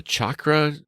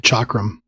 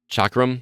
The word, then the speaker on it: chakram: one is this like is it a chakra it's a weapon it's like a spinning disc kind of thing chakram chakram yeah I'm saying it wrong yeah uh I really